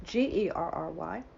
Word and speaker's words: Gerry: And my partner in crime, Gary, Gerry, but pronounced Gary, writes for Splash Magazine Worldwide,